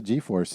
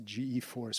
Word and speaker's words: G-force: I always had a g-force and you just I just you know it's one of these things were RCEs oh yeah I guess I must pronounce a GE force but it is G force okay glad we cleared